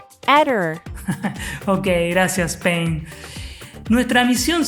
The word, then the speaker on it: Aedir: Pain, ¿cómo se pronuncia? Aedir.